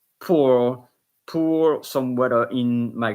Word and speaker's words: pour: Same with poor. Pour pour some water in my glass.